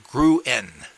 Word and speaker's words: Gruen: a Swiss with a Swedish wife his name is spelled g-r-u-n-e-n grew in Dr Gruen West Los Angeles now I'm going